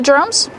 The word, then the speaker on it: drum: easy pronunciation you see the Dr together make the JJ sound like juice and Jump Plus the r sound J J Dr Drum one drum two drums use the short uh sound like cup and up drums I found two